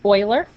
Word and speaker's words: Euler: word euler was the same but it's actually pronounced boylar he lived in the 1700s but you might